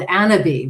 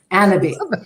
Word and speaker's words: Anabi: So I decided to launch an accessories brand called Anabi, which is cannabis without the C, pronounced the fancy French way. Anabi.